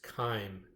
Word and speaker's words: chyme: And the scientific word for milkshakey food is chyme, and it rhymes with time.